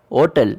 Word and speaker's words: hôtel: Where animal, l'ordinateur and argent are beginning in vowels, and hotel where H is silent.